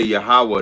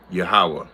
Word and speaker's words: Yahweh: No, if we say the Lord's name, we would say Yahweh. That would be the proper way to say his name. Yahweh.